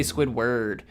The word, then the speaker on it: Squidward: I know that Squidward has a W A R D, which you would think would be like ward or ward, but we don't we don't really say that. We say Squidward. We kind of pronounce it like an like a wi or wo r d now that I think